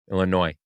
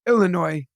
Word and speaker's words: Illinois: comom Joseph two things to tell you one don't pronounce the s in Illinois just going to say that to you just I'm looking out for you no no no s no s Illinois Illinois there you go good